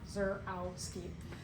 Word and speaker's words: Zarowski: I say my name, Zur, and then that A-W in the middle, ow, rhymes with wow, Zarowski.